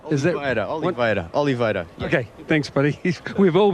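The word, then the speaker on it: Oliveira: you know like for me to and it's Oliva ol Oliva okay thanks buddy we've all been saying it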